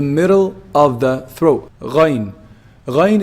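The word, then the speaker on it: غين: Ghayn is pronounced from the highest part of the throat.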